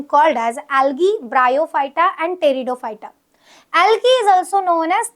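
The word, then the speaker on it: Pteridophyta: Third division होता है टेरिडोफाइटा। इसकी स्पेलिंग पी से स्टार्ट होती है बट प्रोनाउंसिएशन टी से रहेगा, दैट इज टेरिडोफाइटा। अब ये जो थैलोफाइटा है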